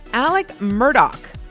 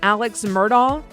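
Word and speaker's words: Alex Murdaugh: Okay, it's starting with number five, Alec Murdoch. So, everyone thinks it's Alex Murdoch, but it's he's in South Carolina. Uh, he's the guy who murdered his wife and son.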